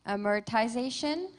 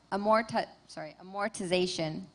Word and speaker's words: amortization: Your word has 3 pronunciations: amortization, amortization, amortization.